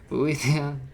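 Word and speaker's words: Boethiah: I just couldn't pronounce it right the first time. Boethia, Moloch Bog, as in Elder Scrolls Online, you can tell.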